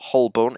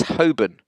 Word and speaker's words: Holborn: In the same way as it's not Holborn, it's Holborn. It's always been Holborn. No one says Holborn.